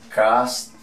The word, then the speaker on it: castle: Vamos con esta otra, sujetar, sería, se escribe fasten, ¿cómo se pronuncia? Fasten. Vamos con castillo, miren castillo, castle, listo.